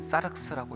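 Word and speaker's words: σάρξ: 첫 번째는 소마라고 읽고 두 번째는 사르스라고 읽습니다. 소마는 신령한 몸을 이야기하고 사륵스는 타락한 육체를 가르쳐요.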